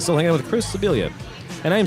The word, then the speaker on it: Sebilia: want to go with the Spanish pronunciation, throw an extra L in there, and be Chris Sebilia.